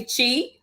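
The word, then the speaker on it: Chee: website is the the name is it's actually chi c-h-e-e is how you pronounce it it's um for wellness nature and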